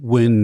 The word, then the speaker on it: Nguyen: Nguyen. Win is the closest, yeah. George Nguyen.